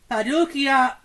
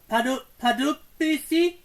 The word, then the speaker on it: Pardubice: cities of Gothenburg, Sweden, Paducah, oh, I pronounced that wrong, Pardubice, P-A-R-D-B-I-C-E in Czechia, Dusseldorf in Germany.